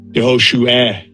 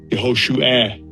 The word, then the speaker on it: Yehoshua: Yehoshua. Yehoshua. Because the patach. And second entry. Because the patach makes a short A sound.